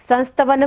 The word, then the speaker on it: संस्तवनम: संस्तवनम में बिंदु है न के ऊपर, तो हमें यहाँ पर उच्चारण क्या करना है? म। बिंदी का उच्चारण क्या होगा? म।